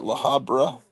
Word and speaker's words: La Habra: I'm in La Habra, but looking to relocate to either North K or out of state. Did I pronounce that right? La Habra. Yeah, you did.